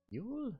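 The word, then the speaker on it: Yull: Ule.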